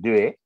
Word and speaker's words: Dewey: Actually, this idea was advocated much before by one educationist called Dewey. This is pronounced as Dew.